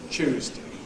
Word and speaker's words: Tuesday: Sunday, Monday, Tuesday. Tuesday. Just like when you choose something.